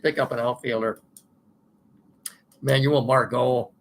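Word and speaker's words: Margot: up an outfielder Manuel Margo m a r g o t I believe that's how he pronounces it uh they had to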